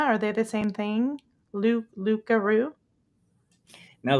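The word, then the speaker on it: loup-garou: Now, the loop guru is really the just a sort of French way of saying the creole way of saying a werewolf. The French, I think, pronunciation for that is the Lukaroo.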